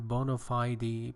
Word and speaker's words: bona fide: American pronunciation, bona fide, British pronunciation, which means genuine, means real, actual, not intended to deceive people.